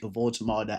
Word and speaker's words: Woltemade: I'm pretty sure his name is pronounced Nick Woltemade, and Newcastle United have signed him from Stuttgart for 71 million pounds, and that's a lot of money.